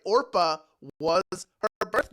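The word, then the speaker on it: Orpah: change the name or Oprah was born from people mispronouncing her actually which is that's right orpa was her birth name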